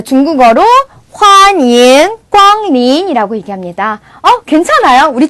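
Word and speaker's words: 欢迎: 환영. 비슷하죠? 그래서 환영이라는 발음을 쭉 길게 영을 약간 잉처럼 N처럼 발음해서 환영 해주시면 돼요.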